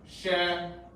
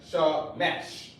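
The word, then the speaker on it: שמש: Of course, the Jewish man, he calls his son Shemesh with an E. He calls God Shemesh. And he pronounced it just like that. He pronounced it like Shemesh.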